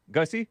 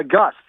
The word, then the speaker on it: Gus: Let's get to Gus Goosey out of Orlando, Florida. How do you pronounce your name? First time caller. Gussy. Uh Gus. You pronounce it Gus.